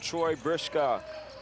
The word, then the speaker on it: Troy Brishka: Troy Brishka. That's how they told me to pronounce the name. Troy Brishka with his first 3 points for the night.